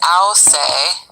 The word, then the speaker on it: Ausse: So let's look at this picture in the red Masonic book written by Antoine Ausse, pronounced Ausse, an Arabic surname that Shadi got to look at.